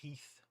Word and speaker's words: Heth: David is saying Heath is definitely pronounced Heath like Ted Heath, 70s UK prime minister.